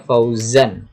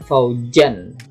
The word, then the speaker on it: Fauzan: Seperti nama saya Fauzan, bukan Faujan ya. Kalau Faujan pakai jim itu artinya kelompok atau golongan.